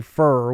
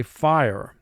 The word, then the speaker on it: fire: So in fire, we have IR, but it's immediately followed by a silent E at the end of the word. So IR is not a team there. We don't say fur, we say fire.